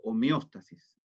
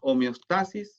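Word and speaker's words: homeóstasis: Con el acento en la O, homeostasis. Nosotros diríamos homeostasis si estuviese el acento acá, o si no hubiese acento, ¿verdad?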